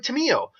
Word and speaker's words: Tamiyo: ado we're dealing with Timmy o or Tammy Oh depending on your pronunciation she is what is